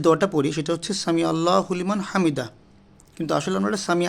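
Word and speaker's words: سَمِعَ اللهُ لِمَنْ حَمِدَهُ: তারপর রুকু থেকে ওঠার পর আমরা যে দোয়াটা পড়ি সেটা হচ্ছে সামি আল্লাহু লিমান হামিদা, কিন্তু আসলে আমরা এটা সামি আল্লাহ বলি, আল্লাহ না, এটা সামি আইন, সামি আল্লাহু লিমান হামিদা, অর্থাৎ সামি মানে শুনছেন, আল্লাহ শুনছেন যে তার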